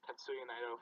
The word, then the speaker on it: Tetsuya Naito: First off, it's Tetsuya Naito from Los Ingobernables de Japón.